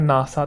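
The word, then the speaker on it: NASA: और यहां एक ही वर्ड की तरह प्रोनाउंस किया जाता है नासा।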